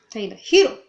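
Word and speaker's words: Tyler Herro: okay number nine done tyler hero taylor hero that's how you say it yeah i don't know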